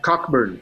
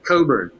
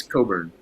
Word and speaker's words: Cockburn: name because it's not cockburn it's coburn and nobody would know that if i didn't yeah the ck is not pronounced it's a scottish name it's from scotland and